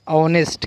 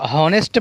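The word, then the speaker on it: honest: Word है वो है ऑनेस्ट। क्या है, अगर हम पढ़ेंगे तो हॉनेस्ट पढ़ेंगे इसकी आवाज़, लेकिन यहाँ पर एच साइलेंट है इसलिए जो है इसकी आवाज़ क्या निकलेंगी, ऑनेस्ट।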